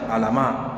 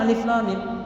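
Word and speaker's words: الم: Alif lam mim ya kan bacanya ada baca alama, ada baca apa lagi? Al alam, ada baca alif lam mim. Ah itu yang paling benar alif lam mim ya kan.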